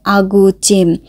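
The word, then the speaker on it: 아구찜: আর ওই রান্নাটাকে বলা হয় আগুচিম। আগুচিম এরকম বলা হয় কোরিয়ান উচ্চারণে।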